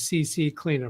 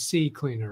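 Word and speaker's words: CCleaner: I know she's pronouncing as CC cleaner, but I believe it's C cleaner.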